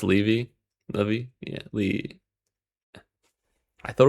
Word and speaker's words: Levi: 40-second downtime for Levi, but should be fine. Pronounced Levi.